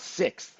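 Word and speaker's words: Sixt: from a company called 6th you guys know about siix th do they have a shuttle van that goes around the airport the 6 is how it's pronounced but yeah they've got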